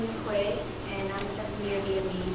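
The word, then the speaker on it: Khuê: Without a circumflex, American would call me Khue. And with a circumflex, it's pronounced Khue.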